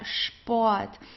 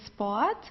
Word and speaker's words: Sport: So for example, here we have the word der Sport. So all words that start with an SP are pronounced as sp, okay? It's Sport. So we don't say sport, we say Sport.